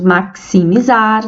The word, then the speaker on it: maximizar: de cs né táxi igualmente temos maximizar 9 letras e 10 fonemas axila cinco letras e